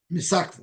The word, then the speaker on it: Misakva: Is it Misakva? Is it Maskava? I'm not sure how to pronounce that word. It's Misakva. Misakva.